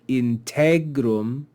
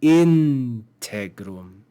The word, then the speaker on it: integrum: So it looks like integrum, but that's not correct. It should be integrum, integrum, because that second syllable, the penult syllable, is common.